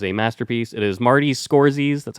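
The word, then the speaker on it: Scorsese: epic it is a masterpiece it is Marty scores that's how you pronounce it and you did it right dude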